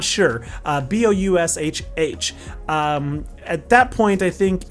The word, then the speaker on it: Boushh: I believe the name is pronounced Boushh, or I'm not sure. Boushh.